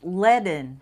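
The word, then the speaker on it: Leadon: Bernie Dragon says it's pronounced Leen. Okay, good. Good. Bernie Leen.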